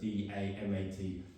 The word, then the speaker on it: Damat: it meant, but they call it, some people spell it different, D-A-M-A-T, Damat.